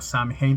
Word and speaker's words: Samhain: noche de Samhain, la que se escribe como Samhain, pero se pronuncia Samhain, en la cual, celebrando entre otras